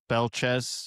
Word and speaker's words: Belchetz: But yeah, Belchetz, apparently the T is silent.